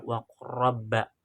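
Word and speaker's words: وَقُل رَّبِّ: Di situ bertemunya la sukun bertemunya la sukun dengan ro tasydid, maka dibacanya waqurrabba. Itu seperti itu.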